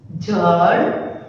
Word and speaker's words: जड़: देखो ज अड़, इसके नीचे यहाँ पर हमें कोई बिंदु नहीं दिया है, हम इसको जे ही प्रोनाउंस करेंगे, राइट। अगर इसके नीचे प्रोनाउंस दिया होता तो हम लोग जेड का यानी कि ज का प्रोनाउंस करते, राइट।